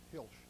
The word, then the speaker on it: Hilsch: cool their machines down with yes thank you hilsch okay my pronunciations are just you know by sight so